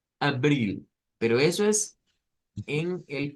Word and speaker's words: abril: Ese se parece más al español, pero no es abril, no es con A, sí, A, sino que es la lengua un poquito metida hacia el centro, abril.